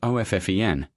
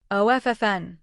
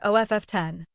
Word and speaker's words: often: Both are technically correct, but the more common American pronunciation is OFFEN. The T is silent. OFFN, not OFF10.